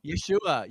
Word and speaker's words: Yeshua: how do you say the the the Jewish pronunciation Yesa Yeshua Yeshua Yeshua sorry the book to I mean